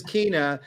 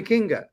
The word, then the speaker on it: Kinga: She spells it Kinga, but then everyone says Kina, but she goes, no, call me Kinga.